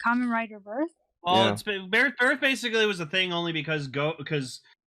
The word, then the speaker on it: Birth: Resurrection / Prologue and Birth X Birth Prologue, both of which are debuting March 13th. Is that one like the 2 births? Birds? Ichi, I think it's supposed to be pronounced birth.